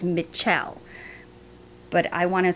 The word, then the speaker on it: Mitchelle: children for years and yes i'm saying her name right it doesn't sound right it's how it's spelled i'll put it up on the screen i may go back to say michelle just because it's just what i know but it's mitchell but i want to